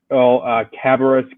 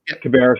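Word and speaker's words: Cabarrus: just mentioned North Carolina 8 includes uh fville cabus County uh I pronounced that wrong correct me yeah Cab County cabis County which is uh a rapidly growing Suburban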